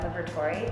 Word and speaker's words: Liberatore: just my name libertory and it's spelled l-i-b-e-r-a-t-o-r-e so liberator victory at the end thank you so much